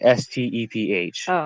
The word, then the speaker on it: Steph: um e p h s t e p h Steph mm-hmm yeah that's like Steven but like you know shortened but yeah I guess